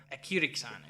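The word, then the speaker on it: ἐκήρυξαν: So it's he sent them forth, he instructed them, and then finally you get this weird version of a verb, ekyrixan is how you say it.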